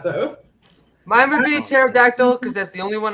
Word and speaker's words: pterodactyl: But pterodactyl as like my favorite name because it's like pterodactyl because the P is silent because it's a pterodactyl.